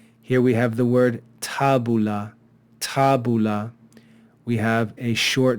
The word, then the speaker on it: tabula: be a short syllable here we have another short vowel followed by only one consonant so this will also be a short syllable tabula tabula two short syllables tabula okay so a syllable